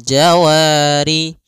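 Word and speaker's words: الْجَوَارِ: Kemudian pada lafal jawari ada mad thabi'i. Fathah bertemu alif panjangnya dua harakat.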